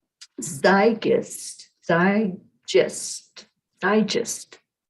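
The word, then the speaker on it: zeitgeist: go back up to the pronunciation that gear tree told me zygust because i just i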